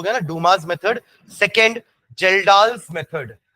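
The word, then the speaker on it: Kjeldahl: गया Duma method second जेल्डा method जेल्डा की spelling के से चालू करना के साइलेंट है जेई एल डी ए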